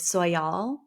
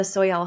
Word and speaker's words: Soyal: the American southwest celebrated soal I believe is how you say the soyal ceremony around the winter